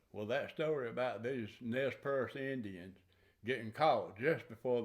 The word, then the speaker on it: Nez Perce: of Chief Joseph and the Nez Perce, if you pronounce it in the French, or Nez Perce Indians trying to get into Canada before the U.S.